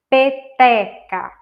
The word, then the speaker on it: peteca: Peteca. Então, o acento forte seria na segunda sílaba.